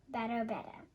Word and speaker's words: Badobedah: That was when I named her Madame Badobedah, rhymes with ooh la la.